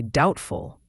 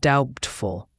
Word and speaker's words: doubtful: In the sentence from the story, the word doubtful has a silent B. That means the B is not pronounced. We say doubtful, not doubtful.